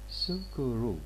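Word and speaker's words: スクール: is the o here sukuru okay let me repeat for japanese club and school will be pronounced as kurabu and sukuru respectively what does this mean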